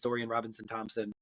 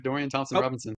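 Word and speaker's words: Dorian Thompson-Robinson: said his name wrong I think it's Dorian Robinson Thompson um no you got it right Dorian Thompson Robinson DTR all right then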